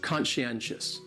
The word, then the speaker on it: conscientious: third syllable, that N, conscientious. Conscientious. That second syllable is what really confuses people, because that SCI almost sounds like you're saying she.